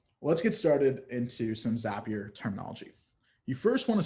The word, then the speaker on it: Zapier: who are wondering its zapier not safe here my good little trick there is zapier it rhymes with happier that's how you pronounce